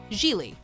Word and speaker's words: Gigli: eight worst seduction ever Gigli what my name is jii pronounced Gigli arounds me really Geely is a romantic comedy